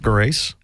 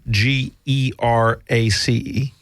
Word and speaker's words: Gerace: Across from me is Eric Grace, and Gerace. Got it. Grace. Gerace, soft G.